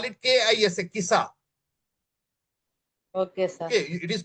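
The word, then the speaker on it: Qisas: you can call it KISA, KISA. Okay, sir. Okay, it is pronounced as KISA.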